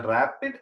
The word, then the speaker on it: RAPD: technique polymorphic marker technique called Aria PD it's pronounced it has the rapid it's abbreviated as random amplified polymorphic DNA but